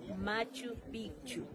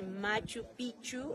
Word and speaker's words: Machu Picchu: como y amigos ya tienen que pronunciar también doble c Picchu Machu Picchu si solo van a hablar la palabra pichu es la parte genital del hombre ent si dice Machu pichu estarían diciendo pene viejo está mal dicho ya